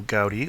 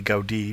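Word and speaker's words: Gaudí: GTI traced back to Antonio gy or Anton gudi depending on which you're using the Spanish or the catalon pronunciation and that turns out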